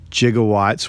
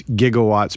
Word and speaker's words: gigawatts: surge of energy 1.21 jigowatts which can also actually pronounce gigawatts but a lot of physicists can go with the G on that one or the soft G and they find out